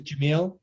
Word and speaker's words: Jamil: So my first name is Jamil, Jam, like Michael, Il, and then is S as in Sam, Ayegh.